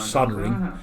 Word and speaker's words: soldering: gun there web-shooters TARDIS interesting pronunciation of soldering they pronounce the L in it I get must be a British thing maybe I saw the